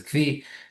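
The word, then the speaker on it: כוי: also applies to a koi. A koi is an animal, or some people pronounce it as kvi.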